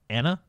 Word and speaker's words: Iana: I'm going to call her Anna with a silent I at the beginning.